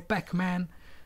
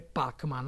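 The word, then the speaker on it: Pac-Man: realtà è corretta perché gli americani dicono packman però avrebbe dovuto dire pac man andiamo a vederla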